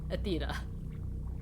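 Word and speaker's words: Aethyta: very important and now we know how to pronounce the bartender Sorry's name Athea well Chad's been telling me all this time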